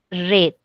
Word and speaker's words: read: verdad mu bien entonces Recuerden que acasito se va a leer red Ok como el color red Okay muy bien Recuerden